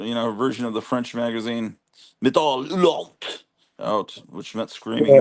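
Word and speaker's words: Métal Hurlant: Americans called it Metal Hurlant, but I think we've been told we should pronounce it properly. Metal Hurlant.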